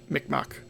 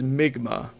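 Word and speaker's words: Mi'kmaq: So, I was saying Mikmak, but um the proper English pronunciation is Migma.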